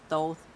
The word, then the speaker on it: Thoth: Thoth cards, because that's how you say his name, Thoth with the long O.